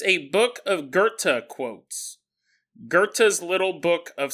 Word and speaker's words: Werther: Jonathan said his name is actually Werther. I was mispronouncing it, and he wasn't just sending me an email to correct me.